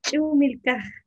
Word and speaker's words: Ch'umilkaj: Vi que su nombre artístico, ahí me disculpa si lo pronuncio mal, es Chumilca. ¿Así se pronunciaría o lo estoy pronunciando mal? Sí, es Chumilka.